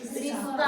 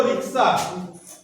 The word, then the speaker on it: রিক্সা: গেছে এবারে কি হচ্ছে আমাদের যারা একটু লেখাপড়া কম জানেন তারা এটাকে উচ্চারণ করেন রিস্কা রিস্কা রিস্কা কি ঠিক বলছি কিনা হ্যাঁ তোমাদের অভিজ্ঞতার সঙ্গে মিলছে কিনা শব্দটা ছিল রিক্সা অনেকে বলেন রিস্কা রিস্কা